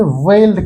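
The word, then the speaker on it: Veld: इसे हम लोग यहां पे वेल्ड के नाम से जानते हैं। अंग्रेजी में इसका प्रोनाउंसिएशन फेल्ड होता है।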